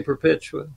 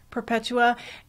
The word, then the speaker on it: Perpetua: I don't know how to pronounce that correctly. How would you say it? I would say Perpetua. Perpetua.